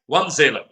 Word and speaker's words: Wanzeele: Wanzeele.